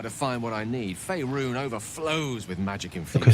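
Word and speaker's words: Faerûn: Faerun overflows with magic infused. Okay, so that's how you pronounce it.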